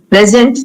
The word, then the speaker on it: present: two different grammatical categories present if the stress is on the first syllable then it's a noun I bought a present